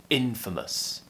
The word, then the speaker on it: infamous: with me infamous and don't forget the stress is on the first syllable here in infamous the other problem with